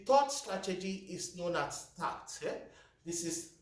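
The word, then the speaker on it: Takt: piece flow the thought strategy is known as tax this is spelt t-a-k-t tat this is the update of the lynn system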